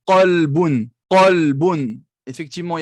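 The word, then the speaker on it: قلبٌ: Qalbun. Qalbun. Effectivement, il y avait un qaf au début. Je n'ai pas dit kelbun. Kelbun, non.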